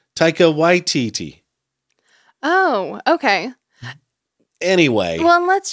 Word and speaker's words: Taika Waititi: First, Lisa Simpson says it, and she says Taika Waititi. Mm-hmm. with the emphasis on the first syllable. Mm-hmm. Because I've been saying Taika Waititi. Right. And I think later he says, he almost puts the emphasis on both, Taika Waititi.